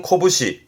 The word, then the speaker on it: 拳: 훈독으로는 코부시, 코부시에서 말 그대로 주먹을 의미합니다만은 이 주먹권자는 요